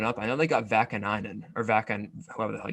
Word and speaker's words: Vakanainen: I know they got Vakanainen or Vakan, whoever the hell you say his name. You got it right the first time. I'm actually shocked.